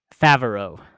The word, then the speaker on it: Favreau: is a 2014 film I'm gonna butcher this guy's name John Favre oh right yes I say his name Favreau Oh Jon Favreau who's famous for a